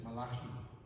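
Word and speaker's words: Malachi: Ya in in middleastern pronunciation is malaki ya American say ya so they said they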